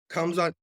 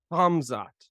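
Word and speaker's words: Khamzat: I think he beat Darren until coming off of a training about with Kamzot Chamay, however you want to say his name. I hate that guy. Hamzot.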